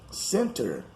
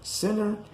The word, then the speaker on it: center: ago a moment ago the t in the words moment and lieutenant is not pronounced it's very common in words that have n t in the end or even in the middle like winter or winter center or center and moment or moment and colonel jessup goes